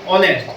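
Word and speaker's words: honest: अब अपन इसको आधे पढ़ते हैं, ऑनेस्ट पढ़ते हैं ना, लेकिन इसमें एच होता है वो साइलेंट रहता है। क्या रहता है? अपन इसको पढ़ेंगे ऑनेस्ट।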